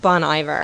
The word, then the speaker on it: Bon Iver: to the bunny bear i think it's pronounced bon iver oh is that what